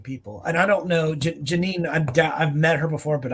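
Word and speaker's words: Jenin: it's spelled Janine but it's I mean uh pronounced Janine but it's j-e-n-i-n and the last name is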